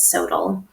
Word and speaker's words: SoTL: So this can feel a little bit SOTL, which is usually how we pronounce this is Scholarship of Teaching and Learning, often gets abbreviated as SOTL.